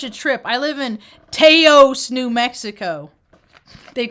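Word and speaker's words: Taos: trip i live in teos new mexico they call it it's pronounced house but they hate when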